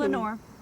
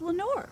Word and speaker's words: Lenore: Lenore. What? I choose Lenore. Why? Who knows why? It just feels right. And besides, it rhymes with adore.